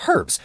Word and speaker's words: herb: Air well then why do you pronounce the h in herb these are all lone words from French and the French basically never pronounce hes when it comes in the beginning position of a word or at the end